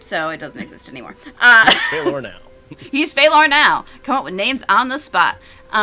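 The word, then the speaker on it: Feilor: His name is Phalor. Spelled F-E-I L-O-R. I fucked that up. Just write things phonetically anyway.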